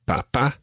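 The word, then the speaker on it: papá: just one other thing we mentioned accents already mama and papa both have accents on the last syllable normally spanish words are pronounced on the second last syllable think of the word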